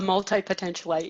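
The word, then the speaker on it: multipotentialite: Amy Boyer Colgan is a local Long Beach, I'm going to try to say this because I think it's such a great new word, multi-potentialite. Did I say it right? Multi-potentialite? A multi-potentialite, yes. Yes, with degrees in psychology, criminology, theology.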